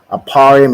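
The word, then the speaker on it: אפרים: Aparium is how you say Ephraim in the Hebrew, and it means I am doubly fruitful, right?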